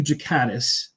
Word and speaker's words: Ghikadis: No, it's Jakatis. It's a it's a soft G.